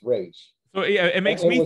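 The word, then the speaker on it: Ra's: going to train with raza ghoul i was like okay well you're pronouncing his name wrong and this is a this is a multi-million dollar movie you can't get the name right it's rage so yeah it makes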